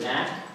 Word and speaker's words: NAC: uh next is I I think it's pronounced Nack it's not NAC but Nack is that correct Nack